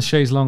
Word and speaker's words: chaise longue: So when they're saying on the chaise longue, on the chaise longue, on the chaise longue, all day long on the chaise longue, long, of course, rhymes with long because it sounds exactly the same.